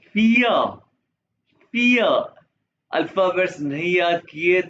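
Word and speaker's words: vier: ई के पास ई पियर पियर अल्फाबेट्स नहीं याद किए नहीं देखे तो देखना एक दफा नहीं पांच दफा देखना और प्रोनाउंस भी साथ-साथ करना बहुत इंपॉर्टेंट है फिया विय नहीं कहना पिया आइंस सवाए दए पिया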